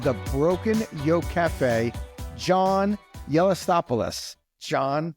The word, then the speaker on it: Gelastopoulos: the CEO of the Broken Yoke Cafe John yopos John how are you today I'm good Frank